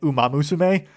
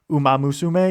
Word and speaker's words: Uma Musume: And this was one where the hostess kept on pronouncing it Uma Musume, or like Uma Musume. There's like very odd pronunciations from like everyone I've seen has called it Uma Musume. I think it is probably more closer to Uma Musume, because I think like how the Japanese pronunciation is, but it's still like